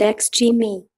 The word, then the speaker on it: Xgimi: The Z4 Aurora is produced by Chinese manufacturer Xgimi, pronounced ex-gee-mee.